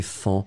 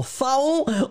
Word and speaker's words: faon: On ne sait jamais trop comment le prononcer, mais on doit le prononcer fan, même si on voudrait le prononcer faon. Mais malheureusement, faon, on n'a pas le droit de le prononcer comme ça, on prononce fan.